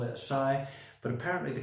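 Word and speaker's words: açaí: that, I know some people may call it Acai, some people may call it Acai, but apparently the correct pronunciation for this superfruit that I must admit I hadn't heard of is Acai.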